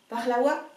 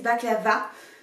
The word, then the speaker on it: baklawa: avec mon petit bonnet, Baklawa. Je prononce à l'algérienne, je sais. Nous on dit baklawa ici, ben, même il y en a qui disent baklava, ce qui m'horripile. Donc si vous voulez le